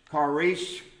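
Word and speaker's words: χάρις: the word it's pronounced Caris as if the first letter were a k he's but in one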